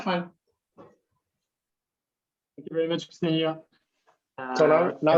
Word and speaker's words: Ksenia: They always pronounce it Xenija, which is really weird. So it's Ksenia.